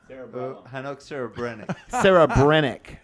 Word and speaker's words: Hanoch Serebrenik: Can you pronounce? Hanoch Serebrenik.